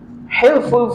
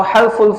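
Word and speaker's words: حلف: Ya, setelah perang selesai, yaitu perang fijar selesai terjadilah ya hilful fudul yaitu perjanjian atau halful fudul ya. Dua, membacanya half atau hilf ya artinya perjanjian ya kebulatan tekad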